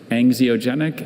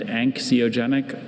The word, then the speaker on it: anxiogenic: Anxioenic and anxiogenic are the two pronunciations.